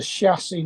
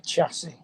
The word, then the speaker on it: chassis: You it know, ain't down a chassis, not a chassis. a chassis. Yeah, it's French. They pronounce CH's.